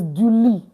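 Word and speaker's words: du lit: It's don't pronounce a t. It's duli.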